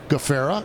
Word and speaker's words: Gafrarar: I've done it all it's GA Fara is what it is um but uh I'm